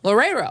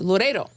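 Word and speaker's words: Loureiro: Same thing that happened to Nuno Lorero. I think it's Loredo.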